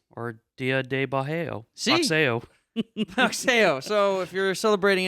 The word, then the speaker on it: boxeo: Bajeo. Sí. Boxeo, damn it. Oh, dude, you're close. I was close. I couldn't remember how to pronounce the X.